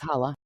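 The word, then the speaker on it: challah: uh bread, kind of like um shala, hala, hala bread. Not sure if I'm pronouncing that right. I think I think it's hala. Yep.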